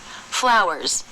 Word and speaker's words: flowers: spell that like this the ending consonant is the z sound which is voiced but actually that kind of sounds like an S at the end doesn't it flowers a really weak light